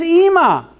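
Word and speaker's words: אמא: then that still is EEMA for Mom okay so Emma does have a silent Aleph on the end why is it silent because there's no jot or tittle Nonie could as you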